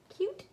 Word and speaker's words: cute: And I'm gonna label cute puppies. Cute has a silent E that makes the U say its name.